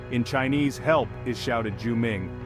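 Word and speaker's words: 救命: crucial in emergencies in Chinese help is shouted juming pronounced juming it's a powerful phrase that can grab attention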